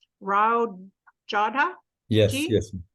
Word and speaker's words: Rao Jodha: Actually, I'm probably going to get the guy's name wrong. Rao Jodha Yes, Ji?